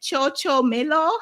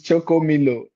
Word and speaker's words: Choco Milo: Is it Cho Cho Mill? How do how do you say that? Say it. It's choco milo.